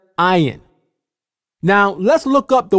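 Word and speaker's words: עין: and the vowel letters, the original sound this letter makes is I. Even today in modern Hebrew, this letter is called ayin. You can clearly hear the I sound at the beginning of the word, ayin.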